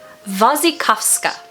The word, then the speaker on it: Wasikowska: Wasikowska.